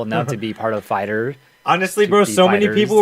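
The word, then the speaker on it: FighterZ: everyone's pronouncing it wrong it's not called Dragon Ball Fighter Z the Z is part of fighter and it's fighters with the Z at the end uh well that's their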